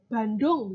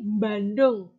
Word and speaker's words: Bandung: kota-kota begitu ya itu orang Jawa membacanya bukan Bandung gitu tapi Bandung ada m di depannya Banyuwangi Banyuwangi itu kemudian